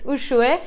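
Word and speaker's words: Uxue: this name written out there might be some hesitation there of how this is pronounced but it's ushue and it means dove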